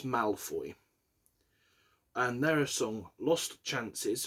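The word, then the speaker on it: Maelfoy: So I think it's Malfoy.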